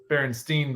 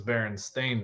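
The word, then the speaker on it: Berenstain: think effect is that people thought it was Baron stain Bears Baron stein bears but it really was Baron stain Bears right so this is how it's spelled Baron stain Bears um and that's how it's always been spelled yeah that's [ __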